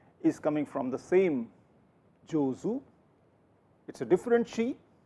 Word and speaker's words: 上手: Here it is pronounced as zu. Jozu.